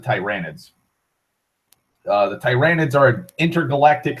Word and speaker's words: Tyranids: Another big threat is the Tyranids, or the Tyranids. I pronounce it Tyranids.